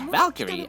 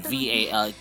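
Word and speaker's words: Walküre: Although it spells Walkure, but it's pronounced as Valkyrie, as in Valkyrie, who are waging a constant war against those despicable creatures.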